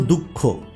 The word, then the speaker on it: দুঃখ: বা আমি যদি বলি, ধরেন আমি বললাম দুঃখ, এই দুঃখটা বললাম, এই যে এটার উচ্চারণ কি দু বিসর্গ খ? না, মূলত ওই নাক দিয়ে উচ্চারিত হয়, যেমন দুঃখ, নাকে বাজিয়ে হলো আর কি।